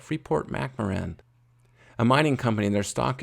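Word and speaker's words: Freeport-McMoRan: that i really like somebody helped me pronounce it better the other day freeport mac moran it's not quite how it looks when you see it but freeport mcmaren a mining company their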